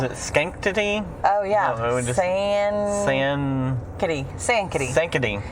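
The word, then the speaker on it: Sankaty: my house was it skank today oh yeah sand kitty sand kitty thinking it's c etsy we're from texas it's hard to pronounce things it's s-a-n-k-a-t-y yes and it ended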